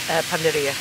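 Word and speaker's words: panadería: Panaderia.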